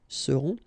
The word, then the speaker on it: seront: Ils seront, final T not pronounced, and then you've got this nasal, on, seront, elles seront.